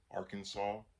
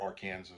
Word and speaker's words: Arkansas: The lawsuit filed by the attorney generals from the states of Missouri, Nebraska, Alaska, Arkansas, or Arkansas, whichever way you want to pronounce it, Iowa, Montana, New Hampshire,